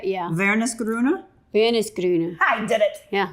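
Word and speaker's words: Wernesgrüner: So W's in German would be like a V, right? Yeah. Vernisgrüne.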